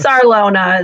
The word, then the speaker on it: Sarlona: Sarlona, Sarlona is how I say it.